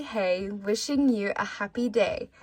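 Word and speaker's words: hej: I find it so funny that hey is spelled with a J when it's literally pronounced the exact same as English with the Y.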